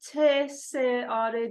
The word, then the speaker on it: Tsar: İngilizce'de T-S-A-R diye yazılıyor ama Tsar olarak telaffuz ediliyor.